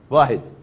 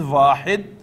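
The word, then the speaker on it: واحد: Tasniya means the act of making a muthanna from wahid. The exact form, the exact name of the form is muthanna. Then you have jama. Pronunciation is wahid, muthanna, and jama, plural.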